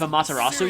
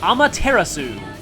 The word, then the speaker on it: Amaterasu: have i mentioned before how weird her pronunciation of amaterasu is she says it like amaterasu which even in like you know not fully native japanese pronunciations that's still kind of weird i think it's like the only time i've ever heard someone say it like that and i think in some context the you at the end is silent kind of like kind